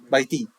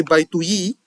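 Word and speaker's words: بيتي: If I want to say my house, baiti. So my, you have to add the ya to it, and then the difference is that you don't say baituyi because it's hard to pronounce.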